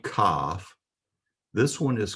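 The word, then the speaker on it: כ: So the pronunciation again is determined by the dagesh in the middle when it's present. When the dagesh is present, then the pronunciation is a hard K, as in king. If the dagesh is not present in the middle, then it's a CH sound, as in Chanukah.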